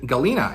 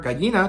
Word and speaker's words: Galina: She's eventually back at the perch, and this is when we meet Galina. And actually, I wanna keep calling her Gallina because that's how her name is spelled, and in Spanish that means hen, right?